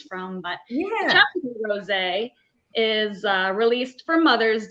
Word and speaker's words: Chaptico: Oh, Chaptico.